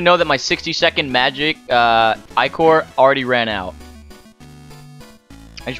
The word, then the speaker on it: ichor: That's pronounced I-core, not E-core, like you've been saying.